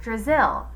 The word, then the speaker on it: Drazil: Brazil rhymes with Drazil, and I thought it might help you remember my name.